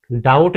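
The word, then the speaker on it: doubt: ऐसे ही इसे हम डाउट नहीं बोलते, इसे हम डाउट बोलते हैं, डाउट। यहाँ हमारा बी साइलेंट हो जाता है।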